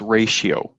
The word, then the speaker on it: ratio: staying consistent is this radio staying consistent uh it's pronounced ratio like t i is often pronounced shh like t i o n is shen so this is ratio